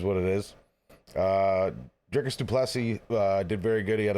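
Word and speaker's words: du Plessis: I pronounce everybody's name wrong. Duplessis. Duplessis, yes.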